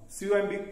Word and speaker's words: comb: C-O-M-B, comb. It is not comb or bomb. It is comb. So here B sound is preceded by M sound, so B will not be pronounced.